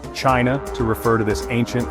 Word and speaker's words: Qin: This unification ushered in the Qin dynasty, pronounced Chin, a pivotal moment in Chinese history.